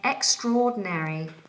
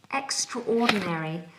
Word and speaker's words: extraordinary: um ahed is saying extraordinary extraordinary now I always think of it as two words extraordinary not ordinary but extraordinary and then squeeze them together extraordinary extraordinary you look